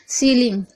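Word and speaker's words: ceiling: सीलिंग, सीलिंग में आप देख रहे हैं सी ई आई, शुरू में ही सी के बाद ई आई आ रहा है, देखिए ध्यान से। उसके बाद हम इसको पढ़ रहे हैं सी, क्योंकि एस सी का सा होता है और ई आई का ई पढ़ रहे हैं। यहाँ पर हम एल का ला और आई एन जी का इंग होता है, ठीक है।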